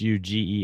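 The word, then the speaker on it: Huger: Well, we've got a street here in Colombia that's spelled h u g- e r and it's pronounced ug. Unreal. Because it's French.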